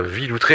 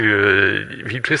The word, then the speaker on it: Villoutreix: Antoine Villautré. Alors on vous rappelle, si Villautré ça s'écrit VILOUTREIX.